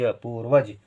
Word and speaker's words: पूर्वज: हो गया पा में बड़े की मात्रा, वा में रेफ की मात्रा, ज, पूर्वज। फिर है कर्म।